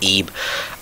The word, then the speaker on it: Ib: called ib or well it's spelled ib but it's pronounced eeb um unfortunately my friend's